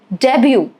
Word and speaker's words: debut: Debut, silent T.